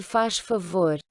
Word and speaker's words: faz favor: Se faz favor. Donc là, c'est comme on l'a vu hier, hein, quand le Z est à la fin du mot, on va le prononcer ch.